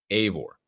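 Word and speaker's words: Eivor: says that it's spell it's spelled yeah I've EO r and pronounced a voor a y-yeah a or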